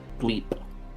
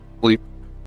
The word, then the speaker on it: Gleep: Gleep. Gleep. It's a P, not a B.